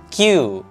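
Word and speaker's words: queue: bukan entry Oke jadi yang benar adalah Q tulisannya kue bukan kue tapi dibacanya Q teman-teman jadi jangan salah baca atau kata lainnya juga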